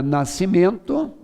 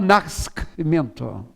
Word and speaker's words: nascimento: você tem a palavra nascimento maior você não fala nacsimento se você tirar aquele é se escreve nascimento com você o som continua o mesmo então ssrr xc e